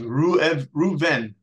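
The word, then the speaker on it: ראובן: Now, you won't see this in your English letters, but the tribe of Reuben in Hebrew is actually, well, first of all, it's pronounced Reuven, which means Ru'eh, which means to see, Ben, to see the difference.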